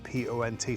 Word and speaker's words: Pont: he's actually called Tony Pont, with his surname being P-O-N-T, so I'm assuming it's Bridge, Tony Bridge. We don't pronounce the T, do you?